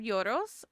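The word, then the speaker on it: gyros: You do have some yoros. I think I'm pronouncing it right. It's your, because the G is silent, and that it's the wrap filled with meat and like particularly lamb.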